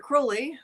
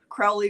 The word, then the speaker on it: Crowley: far away there was a fellow named Aleister Crowley who did a whole bunch of things Crowley Crowley depending on how you pronounce it if you are a red not